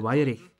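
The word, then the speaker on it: Weyrich: 1942 pochází z wisconsinu jako Němci bychom jeho jméno vyslovili Paul weich Vypadá to jako německé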